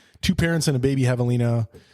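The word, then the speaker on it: javelina: Two parents and a baby Havalina and a Havalina spelled with a J, by the way.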